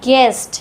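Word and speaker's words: guest: इसको पढ़ते हैं गेस्ट। यहां पर भी यू साइलेंट है क्योंकि वोवेल से पहले है।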